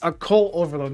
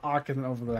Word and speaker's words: Occult Overload: It's Occult Overload, not Opulent Overload. I did this on my video. I just trying to meme and be funny. And now I'm saying it wrong.